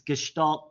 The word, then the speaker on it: Gestalt: and it's more about the principles and it's Gestalt you say it's called gestal principles and it's kind of the start of where all this came from uh back teaching in Germany uh it's gestal principles and we will be getting into that